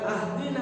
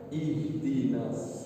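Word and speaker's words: اهدنا: Bagaimana kalau mulai dari sini? Jangan ahdina atau uhdina, ihdinas sirat.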